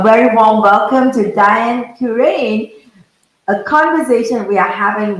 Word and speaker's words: Curran: Miss Diane, Curran, right? I'm supposed to pronounce her name as Curran.